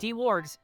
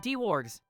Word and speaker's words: Dwarg619: My name is pronounced D-Wargs, not D-Wargs.